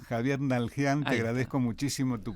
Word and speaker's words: Naldjian: No, por ahí a veces lo que pasa con la D en el medio, como que a veces parece como que se dificultara. Así que digo, bueno, Nalhian directamente.